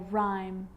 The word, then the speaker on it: rhyme: And with an R, rhythm, or rhyme.